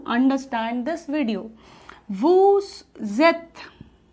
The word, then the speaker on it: vous êtes: When, जब हमारा कोई भी पहला जो वर्ड है वो वोवेल्स कॉन्सोनेंट से एंड हो रहा हो एंड सेकेंड वर्ड हमारा वोवेल से स्टार्ट हो रहा हो, तो हम इसे साथ में प्रोनाउंस करते हैं वू, एंड ये हमारा ज बन जाएगा।